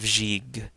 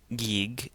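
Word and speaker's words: ϫⲓϫ: So, we have the first ganga is going to be a soft g or a j sound. So, it's going to be j. And the last ganga is a hard g sound as in go. So here we have jig jig. It's not j and it's not gig. It's jig.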